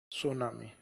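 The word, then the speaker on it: tsunami: Japan चीन के बाद में जैसे जापान की ओर चलते हैं तो जो शब्द लिखे जाते हैं उसमें टी साइलेंट होता है तो तसु नहीं है क्या है सुनामी सु का मीनिंग होता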